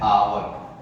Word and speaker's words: hour: लेकिन जब हम लिखते हैं HOUR तो एच क्या है? कॉन्सोनेंट है, लेकिन इसको हम पढ़ते हैं आवर। एच साइलेंट होता है, आवर पढ़ते हैं।